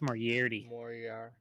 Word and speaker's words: Moriarty: we have power hey don't you pronounce that wrong with all the rain we've been getting lately you might be right there earl we drove to roswell moriarty it's more yeti yes why the [